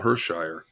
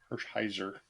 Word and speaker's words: Hershiser: Andy, Oral Hershire. Deva, Oral Hershiser. and Kels. I went with Dwight Gooden. Even though you got his name wrong, Andy, I'll give you credit for Oral Hershiser. Hershiser.